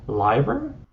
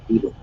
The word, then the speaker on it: Leiber: strung them together, usually like I hope I'm pronouncing this correctly. It's a 50-50 chance. Liber?